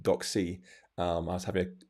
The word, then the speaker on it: DocC: screw it up this is this is not doxy it's entirely me uh so they know what